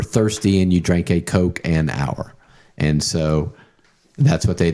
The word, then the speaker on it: Couchenour: Um, but Coke an hour is how you pronounce it.